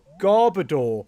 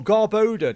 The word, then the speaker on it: Garbodor: Yo, it's Garbodor or Garboda depending on how you pronounce it. I go Garbodor. Garbodor sounds so much better. K in the background saying Garbodor sounds better. But apparently it is garboda.